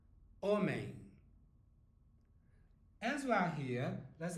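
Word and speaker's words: homem: hotel okay got it and a man is omain omain as we are here let's have a look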